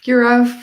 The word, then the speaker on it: Juraj: Today, I'm joined with Juraj from, right? Is that how you would? Yeah, Yeah. So you web pronounced it correctly.